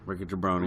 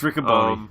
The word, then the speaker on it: Riccaboni: Yeah, Rickajabroni. Rickajabroni. Say it right. No, I'm just not fucking with you. It's Riccaboni. It's Riccaboni.